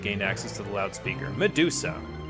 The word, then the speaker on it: Medusa: Medusa. Here's another name, by the way, where the emphasis is on the first syllable.